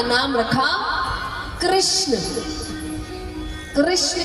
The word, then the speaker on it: कृष्ण: कृष्ण कहने में जीभ घूमती है, बोलिए घूमी, जिसकी नहीं घूमी गलत बोल रहा। मतलब हाँ, उच्चारण ऐसा ही है, अगर उच्चारण सही करेंगे तो जीभ घूमेगी।